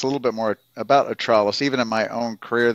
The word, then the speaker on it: Attralus: Now with atrus sorry go ahead nope nope atrus Therapeutics thank you I was going to ask what is the right pronunciation because some of these are a little